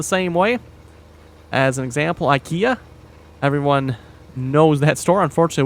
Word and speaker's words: IKEA: But, uh, here's the thing again, English pronunciation, IKEA. I'm sorry, but that is probably the right pronunciation. I don't think you can uh disagree with that. That may not be the way they want it pronounced, but based on the spelling, that is, unless I'm mistaken, that is how it's pronounced.